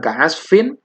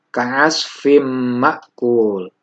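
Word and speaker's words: كعصف مأكول: Jadi membacanya bukan ka'asfin, tapi ka'asfim ma'kul.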